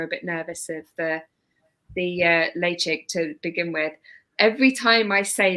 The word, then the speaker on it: Ledaig: But yeah, but Ledaig is definitely the right pronunciation.